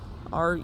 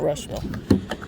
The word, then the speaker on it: Russiaville: Russiaville, not Rushville.